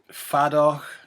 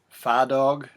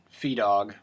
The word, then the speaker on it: Feadóg: the tuning can be a note on the pronunciation it is faddock far dog far dog it's not feed dog or fear dog or fear dog you will find all of those pronunciations out there but the people that actually seem to speak Gaelic depending on whether they're in the North or the south of Ireland generally say it fadog just say fadog and